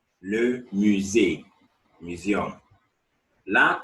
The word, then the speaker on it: musée: Le musée. Le musée.